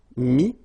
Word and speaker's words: mis: Then E-T-T-R-E will give you this ES, but then you don't pronounce the S, so you get I. Mettre, mi, and then E-N-D-R-E, ES, but then same thing here, the sound I.